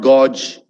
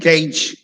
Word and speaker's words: gauge: wrong police next is gauge not gorge okay gage very quickly write down